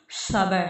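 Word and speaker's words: صبر: और देखिए सबर, सबर तो आप सीन से या सा से नहीं लिख सकते इसको, सबर हम उसको मोटा प्रोनाउंस करते हैं, तो हम उसको लिखेंगे सबर।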